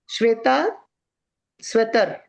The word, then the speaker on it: श्वेताश्वतर: श्वेता स्वतर। प्रभु जी ठीक है प्रोनाउंस?